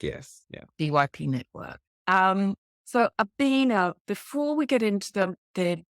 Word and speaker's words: Obinna: Stars, and who is Obinna. Yes. Now, have I pronounced that correctly? Completely fine, Belinda. Obinna, yeah. Perfect.